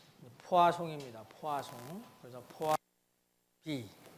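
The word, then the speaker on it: Poisson: 이 불란서 사람이기 때문에 발음이 딱 읽으면 포이송 이렇게 되겠지만 포아송입니다.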